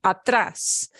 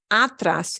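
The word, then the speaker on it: atrás: atras behind yeah be in back of behind atras it's not atras it's atras okay uh so every once in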